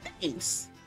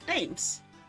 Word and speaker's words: Thames: Thames. I said that. Thames. Well, why has an H in there? Why does it have an H if it's not supposed to be pronounced?